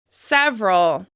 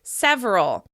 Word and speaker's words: several: Several. Some people may say this with 3 syllables. Several. However, I personally say it with just 2, and that's what we're going to practice.